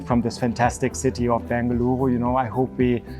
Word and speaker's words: Bengaluru: I love it that you mentioned multiple times Bengaluru that is the correct way to pronounce the city's name. We are known uh as Bangalore as well which is the modern English name that was given to us but the city is Bengaluru.